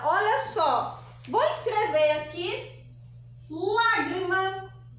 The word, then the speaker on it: lágrima: só vou escrever aqui lágrima lágrima é uma pessoa é só uma fácil porque porque essa daqui já vem com um acento então eu já sei que o mar é a sílaba mais forte e ela é classificada